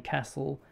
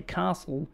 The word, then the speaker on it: castle: I grew up saying castle. I think if you say castle, you're posh. You're Victorian. But I'm Victorian. And you say it wrong.